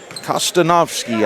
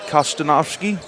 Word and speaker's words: Kostowski: score the easy layup kostovski I've not said it right so far I'm want to correct that kostowski Barnhart with the layup